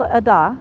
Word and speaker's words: Ada: in a place called Ada and it's spelled Ada if you know the name Ada Ada a but here you need to say Ad or they're going to just get really puzzled they do it takes